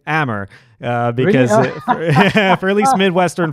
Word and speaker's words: Amr: say by the way you pronounce his name hammer because for at least